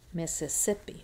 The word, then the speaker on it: Mississippi: So, Mississippi. Mississippi. Which one sounds louder to you? It's the sip that has the tonic stress in English.